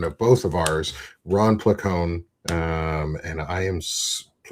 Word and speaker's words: Placone: I mean, the the technical Italian pronunciation is pleone, but you know, uh, in English, it's just pleone.